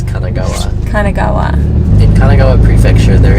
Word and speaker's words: Kanagawa: online we've seen there's quite a few in Kagawa prefecture you said Kagawa I know because I because you said it last night too I said it I thought that's how it's always pronounced no it's Kanagawa Kanagawa in Kanagawa prefecture there is actually a